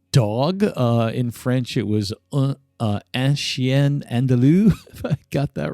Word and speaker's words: Un Chien Andalou: That was And again, I apologize about my horrible pronunciations today, but it's uh In English, it's an Andalusian Dog. In French, it was Un Chien Andalou.